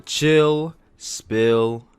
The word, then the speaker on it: Chill Spill: another edition of the chill spill podcast and that is pill spell with an s but it is silent much like i am